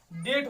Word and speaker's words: debt: देखो क्या हो जाएगा, DEBT, तो क्या हो गया, डेट हो जाएगा, क्या हो जाएगा, डेट, बी नहीं पढ़ेंगे क्योंकि बी साइलेंट हो जाएगा।